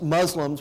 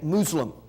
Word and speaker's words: Muslim: Most Muslims would say Muslim. But, we pronounce it Muslim in our society, and that's how I pronounce it.